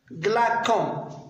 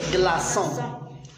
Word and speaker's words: glaçons: Donc, pour ne pas prononcer glacon. Oui. Donc, on met le C avec la cédille pour ne pas prononcer glacon. Donc, on prononce des glaçons.